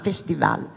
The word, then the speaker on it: festival: sottolineando che faremo un festival, come lo direbbe Giovannino Guareschi, quindi con l'accento sull'ultima, festival.